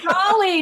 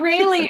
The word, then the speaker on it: Raleigh: C correct you on the pronunciation of Raleigh Raleigh not reallyy okay my Canadian pronunciation